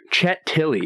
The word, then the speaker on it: Chet Tilles: Chet Tilley, is that right? Did I pronounce that correctly? That's right.